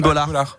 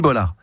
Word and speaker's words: Bollaert: Faustine, moi, je regarde jamais, mais c'est Faustine Bollaert. Et je crois qu'elle prononce pas le T.